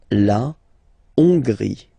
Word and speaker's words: Hongrie: So remember, H doesn't exist, so you don't pronounce it. So it starts with O-N, on, and then gris, final E, not pronounced. La Hongrie.